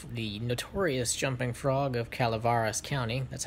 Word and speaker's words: Calaveras: Well, I've read the jumping the notorious jumping frog of Calivaris County. That's how it's actually pronounced.